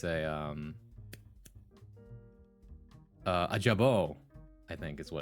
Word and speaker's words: jabot: It's a um uh a jabo, I think is what it's called. Which is spelled J A B O T.